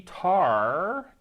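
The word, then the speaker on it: Tahr: Trusty Tar, T-A-H-R, Tar, sounds like a Klingon animal.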